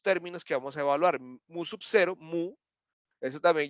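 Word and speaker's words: μ: se escribe así y se pronuncia mu no mío es un Pokémon listo mu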